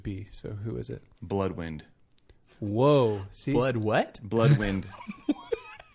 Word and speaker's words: Bloodwynd: spelled like BLOODWYND. Bloodwind. Yes.